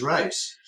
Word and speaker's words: Reis: my family's German and the proper German's pronunciation is rice uh apparently some generations